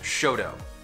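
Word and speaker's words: Chouteau: have french names but we don't say them with a french accent we say them with a very americanized pronunciation and i'm going to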